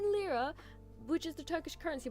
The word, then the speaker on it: lira: And it's not in lira, which is the Turkish currency, by the way.